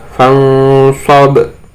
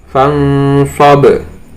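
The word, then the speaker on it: فانصب: Contohnya di sini ada nun sukun bertemu dengan sob, membacanya adalah fangsob, fangsob.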